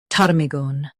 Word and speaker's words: ptarmigan: Stress tar and keep migan soft. Tar, me, gun. PTARMIGAN.